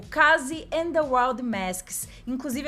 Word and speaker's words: Kaze: Kazé. Fica muito brasileiro, mas tudo bem, é Case. Vamos combinar assim, né? Case não, calma, tá me perdi. É Kaze, mas tá tudo bem, provavelmente